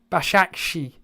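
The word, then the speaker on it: Beşiktaş: so when karma baby is saying it's pronounced bash akshi it's 2021 and then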